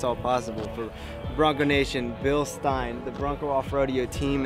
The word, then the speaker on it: Bilstein: said the name wrong it is not bilstein it's bill stein remember that folks but anyways as far